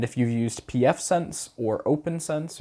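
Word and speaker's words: OPNsense: you used pfSense or open sense or OPN sense i think is actually how you say it you'll be you'll be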